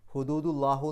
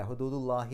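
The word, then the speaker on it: حدود الله: അതുകൊണ്ടാണ് അള്ളാഹി എന്ന് എഴുതിയത് ഹുദൂദു അള്ളാഹു എന്ന് പറയില്ല ഹുദൂദുള്ളാഹി എന്നാണ് പറയുക വമൈ യത്ത അവിടെ മൻ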